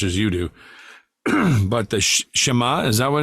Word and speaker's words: Shema: Like, for example, do you know what the Shema is?